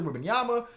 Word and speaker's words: Wembanyama: I pronounced his name wrong back then, but Victor Wembanyama.